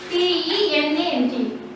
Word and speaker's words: lieutenant: Say here, LIEUTENANT. The pronunciation of this word is lieutenant.